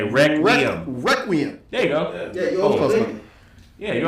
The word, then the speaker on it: Requiem: You said Requiem, like Rec Room. Say Requiem. Requiem.